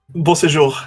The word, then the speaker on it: Beausejour: Is it like It's Beausejour? Is it correct? Beau séjour. It's actually French.